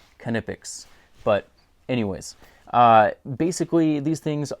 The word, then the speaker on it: Knipex: name is spelled, you would think that it's pronounced Knipex, but believe it or not, they have officially released on their YouTube and Instagram page that it's pronounced Knipex.